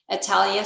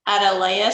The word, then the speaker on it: Atalaya: first place was 5432 italia street i said it wrong atalaya street sorry second place was